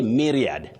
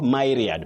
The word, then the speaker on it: myriad: You say myriad not myad. Myad might sound unique but please don't go for unique soundings or pronunciations. Just go for accurate or standard pronunciations. Simply myriad not myriad.